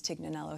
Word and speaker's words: Tignanello: The namesake actually comes from a wine that I had that was an aha moment, Tignanello, which people sort of pronounce Tignanello here in the States.